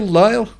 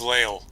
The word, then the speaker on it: Lael: Is that how you say it? Lyle? It is Lael. Lael, got it right first time.